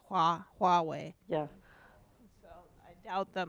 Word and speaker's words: Huawei: bringing that up yes they always pronounce it they just keep saying huawei so it just shows how like americans don't really understand chinese at all is you know they don't even say huawei yeah so i doubt